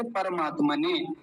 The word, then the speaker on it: परमात्मने: ऐसे थोड़ा लंबा खींच अब इसको देखिए परमात्मने कुछ लोग कहते हैं परमात्मने पर पर नहीं पर क्योंकि र पूरा है अगर यह र आधा होता और यहां चढ़ा हुआ होता तब कहते परमात्मा ने लेकिन अभी परमात्मा ने नहीं कहेंगे क्या बोलेंगे परमात्मने परमात्मने ऐसा नमः ये विसर्ग बन